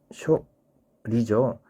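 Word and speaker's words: 処理: 자, 그리고 방출이라는 말, 처리는 쇼리하고 짧게 단음으로 내어 써야 됩니다. 쇼리죠.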